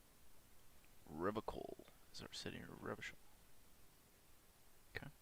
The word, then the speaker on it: Revachol: Revachol is our city, or Revachol. Okay. If it doesn't rhyme, you're not pronouncing it right.